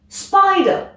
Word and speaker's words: spider: qui fait deux syllabes c'est un nom on accentue donc la première Spider et surtout tu n'hésites